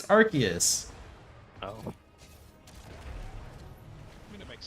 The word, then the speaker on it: Arceus: I think originally it was meant to be Arceus, but then it sounded like the British word for butt. So then they're Yep. like, it's Arceus.